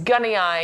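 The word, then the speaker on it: gunnii: a problem this is the eucalyptus gunny Eye Is How They pronounce that it's got the rural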